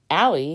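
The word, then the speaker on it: Eiley: on the bowers mansion ally which is spelled e-i-l-e-y her nickname the madame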